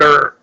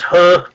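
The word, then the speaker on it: Heo: Still the He family in Korea, which would be spelled H-E-O, but many spell it like H-U-R, and put kind of an R sound on the end of that.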